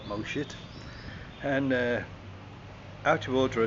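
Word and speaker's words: Mo Chit: have to go through a place called mosit and uh although that sounds like you're taking the pee out of a beloved Simpsons character that really is how you say it moit and uh out of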